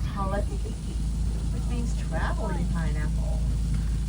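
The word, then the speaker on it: hala kahiki: In Hawaiian, it's pronounced halatiki, which means traveling pineapple.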